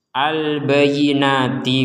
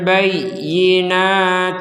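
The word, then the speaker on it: البينات: yang tidak ditekan ah jadi kalau ditekan albayi bayi seperti itu kalau tidak ditekan albayi albayi albayinati wa ayat Nah itu kan tidak ada tekanan maka di sini harus ada tekanan wa Isna maryamal bayinati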